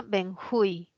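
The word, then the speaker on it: benjuí: tipo de bálsamo y se pronuncia benjui no es aguda termina en vocal se tilda cuál tildamos vamos a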